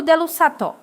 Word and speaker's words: dell'usato: In the second phrase, we say più dell'usato. We place an accent on the U.